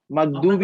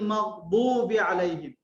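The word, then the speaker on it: المغضوب عليهم: দেখুন, বদের উচ্চারণটা দাল হবে না, আবার আবার আবার আবার জাও হয়ে যাবে না, জ হয়ে যাবে না। মানে গায়রিল মাগদু এরকমও হবে না, আবার জু এরকমও হবে না। গায়রিল মাগদুবি আলাইহিম, মাগদুব উচ্চারণটা ঠিক এরকম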